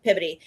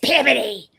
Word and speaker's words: Peabody: This woman 2 rows over, yes, it's Peabody. I'm like, look, Excuse me. I'm from Texas. It's spelled Peabody. It's Peabody. She goes, no, it's Peabody.